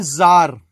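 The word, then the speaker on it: czar: एक शब्द है जार और है क्या?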